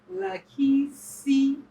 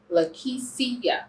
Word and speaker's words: Lakischia: Lakischia. Lakischia.